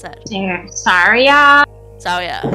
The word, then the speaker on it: Saria: castle gardens he spotted syria zarya how'd you pronounce that saria so yeah seria i i i intentionally pronounce things wrong because